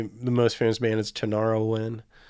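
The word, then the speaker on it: Tinariwen: band people's probably the most famous man is tanarawin spell that form t-i-n-a-r-i-w-e-n and they sing in arabic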